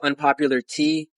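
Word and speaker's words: Unpopular T3A: So my YouTube channel is Unpopular Tea. Tea is like, it's like, the tea that you drink is spelled T3A.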